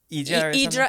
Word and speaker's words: Hydra: Yes, we went to I think it's I want to say Hydra, but I think it's pronounced Idra.